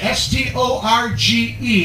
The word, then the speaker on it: storge: from is the type of love that's called storge s-t-o-r-g-e it's pronounced storge can everybody say that storge is what i